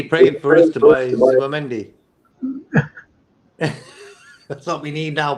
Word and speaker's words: Zubimendi: Did he pray for us to buy Zubimendi? That's what we need now, Prez. Zubimendi. That's how you pronounce it, you know.